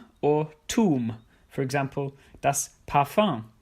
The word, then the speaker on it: Parfum: And or tum, for example, das Parfum, which is pronounced in a French way because it comes from the French language.